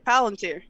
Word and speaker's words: Palantir: Palantir, how do you say that? Palantir? Yeah, Palantir.